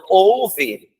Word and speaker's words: houve: Então, houve, tá desse jeito, tá? E ouve, de ouvir é desse jeito. Então, na pronúncia, os dois são iguais.